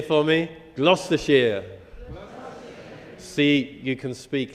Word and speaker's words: Gloucestershire: you all um uh I'm just going to pronounce gloucestershire can you say gloucestershire for me gloucestershire see you can speak like locals in the